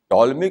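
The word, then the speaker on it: Ptolemy: point गवन example देखिए टॉलमी के जमाने से लमी को अरबिक में उर्दू में कहते हैं बतली मूस लमी में पी है जो साइलेंट है तो लमी के जमाने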